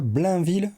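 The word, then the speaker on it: Blainville: Blinville, c'est comme ça qu'on le prononce.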